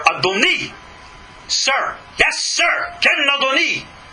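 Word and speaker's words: אדוני: The same letters, Aleph, Dalet, Nun, Yud, are not pronounced Adonai, God, but Adoni, little vowel difference, and it's Sir.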